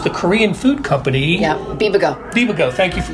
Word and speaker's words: Bibigo: Yeah, Bibigo. Bibigo, thank you for pronouncing.